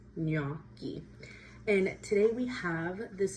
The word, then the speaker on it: gnocchi: And I hear a lot of people saying gnocchi wrong. I've heard gnocchi or gnocchi, but the G is silent, so it is gnocchi.